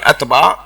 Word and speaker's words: عتبہ: عتبہ، شیبہ، عتبہ اور شوبہ نہیں، عتبہ صحیح تلفظ، عتبہ، شیبہ.